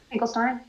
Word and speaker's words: Finkelstein: There are both pronunciations, but I think he is Steen. Steen, okay. Finkelstein? It's always Steen.